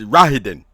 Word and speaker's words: Rahadin: God damn it, I can't pronounce his name. Yes. Rahadin. Yeah, it's Rahadin.